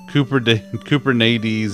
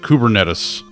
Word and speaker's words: Kubernetes: chasing waterfalls it's through cooper cooper nades is how ms teams pronounces it [ __